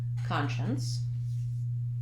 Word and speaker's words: conscience: look at the word conscience and what's confusing about this word is that it has the root word science but we don't pronounce it the same as we do in science so when I'm pronouncing